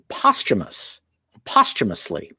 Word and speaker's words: posthumous: Another word that we can learn from the story was they used the word posthumously. So that's how these words are pronounced, posthumous and posthumously.